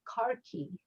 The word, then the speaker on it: khaki: It's spelled the same way, but they pronounce it "karki" with an R, as if it had an R in it.